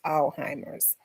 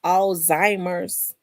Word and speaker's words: Alzheimer's: She's a nurse, and she said it's they pronounce it Alzheimer's, but another nurse told me it was Alzheimer's, where the Z is silent.